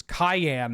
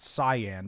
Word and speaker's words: Cyan: it appears as though the character's name is Cayenne, not Cyan, despite being spelled exactly like Cyan.